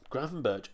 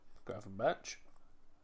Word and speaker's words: Gravenberch: Gravenberch.